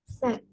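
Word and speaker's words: scent: menggunakan silent Konan Oke bacanya gimana itu set Yes S jadi ee bagian c-nya tidak dibaca langsung keehnya oke good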